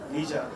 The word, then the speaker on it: Lijia: Hi, I have a question to Lijia, if I pronounce it right. Lijia.